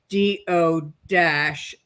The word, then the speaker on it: Duchesne: or something, I'll put Peg Duchesne parentheses, quote, DO-SHANE.